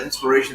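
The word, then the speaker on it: IInspiration: suit products of inspiration so they do still pronounce it inspiration they just write it just like they used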